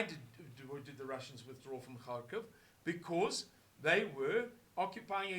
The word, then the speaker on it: Kharkiv: It's a very, very flat eye. therefore, sometimes in English we spell it with an I, Kharkiv, and sometimes Kharkov. But it's something in between, Kharkiv. Kharkiv. It's something in between the two.